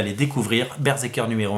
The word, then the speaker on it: BRZRKR: Berserker, ça s'appelle, et ça s'écrit comme ça.